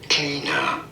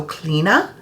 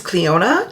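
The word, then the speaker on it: Clíona: Cleaner. Cleaner. Pretty straightforward once you know. Cleaner. Okay, so it says pronounce it like K L E E N A. So Cleina, sometimes Cleona depending, but we're going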